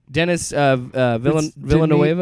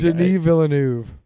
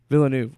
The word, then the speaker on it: Villeneuve: Dennis Villanueva. It's I'm not trying to be funny. I'm legit. Like, Denis Villeneuve. Villeneuve.